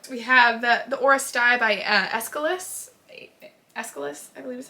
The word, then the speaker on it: Aeschylus: We have the Oresteia by Aeschylus, I believe is how you pronounce it, which is a Greek trilogy, tragic trilogy of plays about the house of Atreus, right?